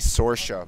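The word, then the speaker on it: Saoirse: know this one yeah it's actually sorcia but it's like impossible because it's an irish name how does everybody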